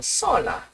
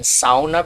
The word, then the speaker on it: sauna: And you're wondering why I called this the swan sona or sauna. I prefer using the pronunciation sauna because I'm learning Finnish.